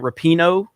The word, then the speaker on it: Rapinoe: Rapinoe? Is that a name? I think that's the way you pronounce it.